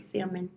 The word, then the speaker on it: salmon: But yeah, I used to say salmon before, but salmon.